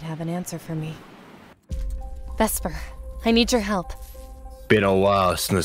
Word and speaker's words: Vesper: write my name wrong supposed to be Vesper not vexper idiots look I'm caught